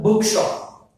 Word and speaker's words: bookshop: Bookshop. What is this? Bookshop. This bookshop has two syllables. So two words. They are book, another is shop. Stress falls on the first one.